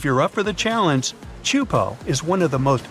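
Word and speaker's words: Teahupo'o: Chupo in Tahiti also has some of the heaviest waves in the world, breaking over a shallow reef and creating intense barrel rides.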